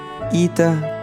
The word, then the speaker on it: Ita: Par contre, comme vous pouvez voir à votre droite, la lettre Ita se prononce comme la lettre I en français. Ita comme dans I porthenus.